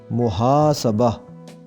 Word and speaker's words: محاسبہ: استعمال ہوتا ہے محاسبہ، لیکن اس میں سین کے اوپر زبر پڑیں گے اور اس کا صحیح تلفظ قائم ہوگا محاسبہ، محاسبہ، سین کے اوپر زبر کر کے پڑھا جائے گا محاسبہ۔ ہمارا آج کا تیسرا